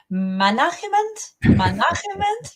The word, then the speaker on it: management: Okay, so we can break this down into 3 syllables. Okay, we Okay. start with the first man, Okay. man, and this is also where we want to give the most emphasis.